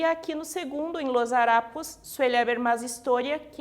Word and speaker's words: harapos: Temos aqui em destaque a palavra harapos e história, e aqui temos em destaque a sílaba tônica ra, né? Que é a penúltima sílaba, e to, que é a penúltima sílaba também.